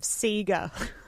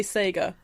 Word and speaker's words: Sega: think you'll find that that is an american pronunciation of sega the japanese would say sega there are four right